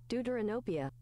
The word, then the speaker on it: Deuteranopia: Pronunciation. Deuteranopia.